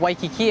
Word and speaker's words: Waikiki: Even if it's at the beginning of a word, it's still a W sound. Nobody pronounces it Waikiki. So we're in the middle of Waikiki, and Waikiki, there's like a lot of development.